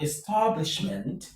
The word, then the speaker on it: establishment: In number four, we have establishment. Establishment. The stress is on stab.